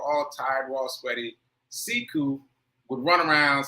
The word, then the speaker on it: Sekou: He pronounces it Sekou instead of Sekou, but it's spelled the same.